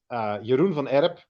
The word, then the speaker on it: Jeroen van Erp: And with me, indeed, Jeroen van Erp.